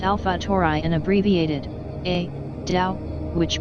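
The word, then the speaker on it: Alpha Tauri: example Aldebaran is designated a tour I pronounced Alfa tour I and abbreviated a Dow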